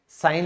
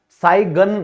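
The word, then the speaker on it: sign: फिर है हस्ताक्षर, सिग्नेचर, ठीक है, यहां भी आप क्या है, साइन लिखेंगे, तो ऐसे लिखा जाएगा, साइगन नहीं लिखा जाएगा, साइगन नहीं लिखा जाएगा, जी साइलेंट हो गया।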